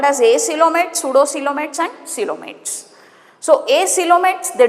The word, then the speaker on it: pseudocoelomates: P is silent, pseudocoelomates we call them as.